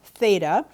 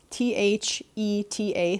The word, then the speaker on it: theta: here this symbol in this angle this is pronounced theta t h e t a theta and it is a greek letter it's